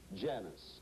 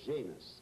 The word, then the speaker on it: Janus: looked in opposite directions was Janice or Janus sometimes pronounced depending on j-a-n-u-s Roman God had a